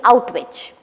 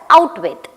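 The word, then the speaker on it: Auschwitz: Bruno's father, Raphael, is now promoted to as a commandant of the death camp in Outwich. which Bruno mispronounced as out with.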